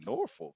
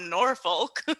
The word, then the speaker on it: Norfolk: going to be like norfolk what the they don't pronounce the all the letters in that in their words norfolk norfolk no north